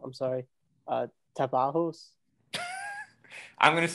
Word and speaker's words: Tapajós: I'm going to say it wrong, I'm sorry, Tapajós? I'm going to say it wrong too. Cecile, well, how do you pronounce that river? Tapajós.